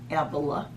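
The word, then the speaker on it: Ávila: hearing voices almost daily saint teresa of avila some people pronounce that avila a lived from 1515 to 1582.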